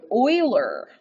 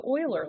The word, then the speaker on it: Euler: interesting all right leonard euler i know it looks like euler but that's not how you pronounce it you pronounce it euler he's a mathematician he